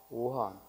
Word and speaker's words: 오한: 그래서 악으로 읽으면 악하다라는 의미지만 오로 읽으면 또 미워하다 이런 의미도 되고, 그래서 여기서는 악한이 아니라 뭐라고 읽어야 돼요? 오한.